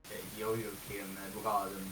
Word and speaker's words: Jojokimbroaden: You know, I actually don't know if I can pronounce it correctly, as I'm Swedish, and I pronounce it as Jojokin Braden, but you can just call me Jojo.